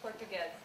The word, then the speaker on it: Portuguez: Portuguez, or her pronunciation of her last name is? Portuguez.